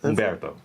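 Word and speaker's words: Humberto: a beautiful yeah yeah Umberto Umberto is my middle name the H is silent oh God did I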